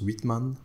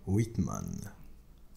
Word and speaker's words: Whitman: vous entreprenez avant 2019 ça se prononce whitman oui tout à fait whitman parlez nous de cette